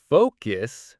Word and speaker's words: focus: Focus must have a long O to avoid saying the F word.